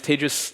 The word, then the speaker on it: Tejas: Uh my name is Tis. That's pronounced like contagious.